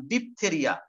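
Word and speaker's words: diphtheriae: লেখো স্কোরিনে bacterium ডিপথেরিয়া, স্কোরিনে bacterium, এটা তার জেনাস, করিনে ব্যাকটেরিয়াম, উদাহরণ হচ্ছে করিনে ব্যাকটেরিয়াম ডিপথেরিয়া, DIPTHERIAE, ই এর উচ্চারণ না করলেও হবে, ডিপথেরিয়া, করিনে ব্যাকটেরিয়াম ডিপথেরিয়া, মানে এটার জন্য আমাদের ডিপথেরিয়া রোগটা হয়।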